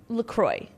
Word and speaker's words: LaCroix: I am now into lemon LaCroix.